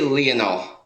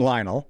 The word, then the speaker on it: Lionel: How do you say Messi's first name? I I say Leonol. Okay. I was calling him Lionel and then is Leonol.